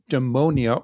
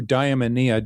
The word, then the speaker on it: eudaimonia: So, you eudaimonia or you diamonia, depending on how you want to pronounce it, is being in touch